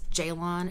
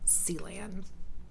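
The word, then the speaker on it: Ceylin: name is spelled c-e-y-l-i-n but it's pronounced with a J because it's Turkish that's why it's Jaylon and not sea land anyway I rolled in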